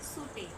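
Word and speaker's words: subtle: इसमें B Fallot होता है। तो आप इसको बोलते हैं सुटेल।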